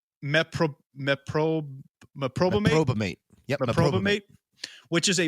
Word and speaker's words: meprobamate: And at some point, she even attempted suicide by overdose on, now I tried pronouncing this, it's meprobamate.